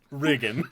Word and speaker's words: Riggan: beginning of his name for some reason it's pronounced riggan I'm just like like okay I don't know